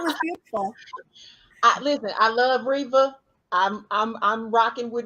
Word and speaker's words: Reva: Listen, I love Reva. I'm rocking with Reva.